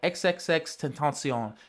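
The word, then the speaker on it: XXXTentacion: Okay, so my last pick and this pick are probably a little biased, but at number five I have XXX Tenton. And that's how you pronounce it.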